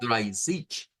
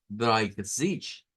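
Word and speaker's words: dreißig: Estuvimos viendo lo que era el 30 y decíamos que era drich drich ese número por eso les hice énfasis al principio con lo del versículo lleva una r gutural lleva es sonido es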